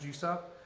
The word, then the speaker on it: JVICE VP: So all I did, I substituted the U's with V's.